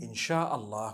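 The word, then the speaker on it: إن شاء الله: if you're writing it in the arabic language the correct way of writing it is three separate words so in sha'a allah and when you're saying it you say insha allah okay so i'm writing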